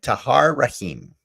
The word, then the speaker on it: Tahar Rahim: this movie I'm trying to remember how to pronounce his name um he is played by tahar Rahim a french actor who I never heard of